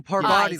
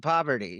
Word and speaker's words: Parvati: Oh, Parvati, like sorry. Parvati. Oh, yeah. Well, Like, but yes. but people call it poverty.